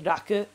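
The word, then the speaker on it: 楽: So even though this is the kanji that shows up in tanoshi, when it's all alone and not married, it's pronounced as raku.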